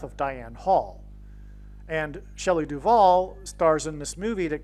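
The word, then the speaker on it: Duvall: And so, uh, Shelley Duval, um, uh, her name rhymes with Hall.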